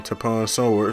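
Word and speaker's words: Tapion Sword: I put on Tapon Sword, that's how you pronounce it.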